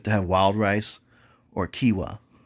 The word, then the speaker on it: quinoa: have wild rice or quinoa which is spelled quinoa but that's it when